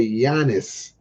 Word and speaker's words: Giannis: is Milwaukee Bucks best player his name is Giannis so it's all in the pronunciation I said I'mma Be I'mma Be Honest I'mma Be honest be honest but you say yanis I'mma Be Honest like a hoop of Milwaukee